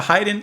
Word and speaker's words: Haydn: I mispronounced it before, but I got it now. We're listening to Haydn, and we are properly listening to Symphony Number 1.